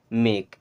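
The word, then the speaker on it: make: मैंने आपको पहले समझाया था कि ए और ई जब आते हैं, ठीक है, उनके बीच एक कॉन्सेंट रहता है, तो इन दोनों का मिलाकर के उच्चारण हमेशा एक ही मात्रा की तरह करते हैं, ठीक है ना। तो इससे क्या पढ़ेंगे, मेक। एंड मेक का मतलब होता है बनाना।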